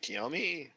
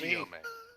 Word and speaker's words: Chiyome: Is it Kiyomi? Chiyomi? Chiyome. Oh, Chiyomi. Chiyome. Chi. Well, I don't know that particular language well, pardon me. It's not a language. CH is in pretty much every language. I mean, I can get the May part. That is distinctly Japanese pronunciation. Damn it. So, Chiyome. at this point, I did the May part fine.